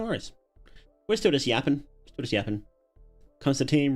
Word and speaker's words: Constantine: Constantine rhymes with wine.